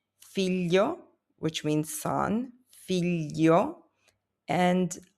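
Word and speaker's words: figlio: You have the three letters g l i. This sounds like le in millions. It's a softer than a plain l. You have words like filio which means son, fio, and alio which means garlic.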